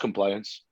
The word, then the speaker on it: Complawiance: so it's called compliant like it's spelled it's pronounced compliance um i can the only thing i can